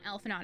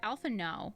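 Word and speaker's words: Alphinaud: alpha naught i'm sorry it's not elf not it's alpha no and i keep mispronouncing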